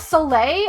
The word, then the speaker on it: Soleil: Oh, it's Soleil.